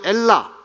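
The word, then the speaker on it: Ελλάς: 그런데 실제 발음은 엘라.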